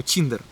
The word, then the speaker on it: Tinder: Здесь он называется Ти, читается как Чи, поэтому Tinder.